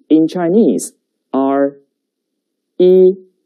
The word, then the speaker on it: 一: And the pronunciation is 一. 跟我读一.